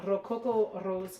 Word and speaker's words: Rococo Rose: So this was the Rococo Rose card, yes? And you have to say it like that. If you don't say it like that, you're not saying it properly.